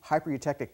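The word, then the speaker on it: hypereutectic: This next alloy here is called a hyper-eutectic, high silicon hyper-eutectic piston. Let's all say that together, hyper-eutectic, okay? So a lot of people mispronounce that word.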